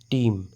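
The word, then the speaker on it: team: হৈ থাকিলে এইটো সাইলেন্ট ঠিক তেনেদৰে ট ই ম টিম ইৰ সাউণ্ডটো ই হৈ গ'ল ইৰ সাউণ্ডটো এ হোৱা নাই ইয়াতে ইৰ সাউণ্ডটো ই হৈছে ট ই ম টিম এটো সাইলেন্ট হৈ আছে গতিকে মনত ৰাখিব যেতিয়া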